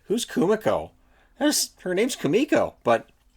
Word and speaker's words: Kumiko: kumako and i'm like it's not kumako it's kamiko and then he got